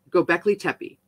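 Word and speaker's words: Göbekli Tepe: sanctuary now known as gobekli tepee right i want to go to go black i want to go there go i said it right the first time go beckley tepee in what is now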